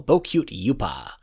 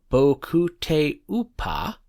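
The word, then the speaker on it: Bokutte Upa: For our last contestant, it's Bio Miracle Bocute Yupa. Wait, hang on, my producer's telling me something. I'm pronouncing it wrong. It's Bio Miracle Bokute Upa?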